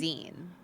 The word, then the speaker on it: zine: Yeah, cuz I think a lot of people just see it's spelled and think it's pronounced like Vine, but it's it's Zen, like magazine.